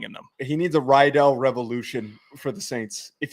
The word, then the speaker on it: Riddell: Is it pronounced Rydell? Yeah. I thought it was Riddle or Riddell. Are you screwing with me? No. I never thought it was a hard I.